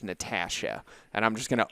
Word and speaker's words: Natasha: And I'm still struggling to pronounce the right word the right way, but it's Natasha.